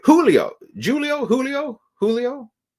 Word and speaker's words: Julio: name but welcome H Julio Julio Julio Julio because the J is pronounced with a an H isn't it it's not it's not a j it's a Julio I